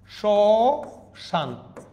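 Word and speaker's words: শ্মশান: চন্দ্রবিন্দু দিতে হবে স্মরণ শশান ম ফালাটা শুরুতে আছে উচ্চারণ হচ্ছে না দেখেন সান সশান কিন্তু এখানেও ছন্দ্রবিন্দু কেন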